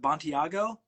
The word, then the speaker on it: Bontigao: And I always, and you must get this all the time, but Bontigao?